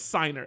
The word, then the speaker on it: Signer: you know what it's it's not singer it's SN so Roman serer if you want to check out his art uh it's uh housworth decom and if you can figure out how to spell it then you can go check it out Roman what Roman swinger I've been saying singer this whole time is signer s i g n e r so